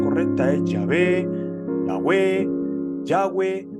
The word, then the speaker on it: Yahvé: Esto lo vendríamos a traducir como Yahvé, que es el nombre personal de Dios, según la pronunciación más aceptada.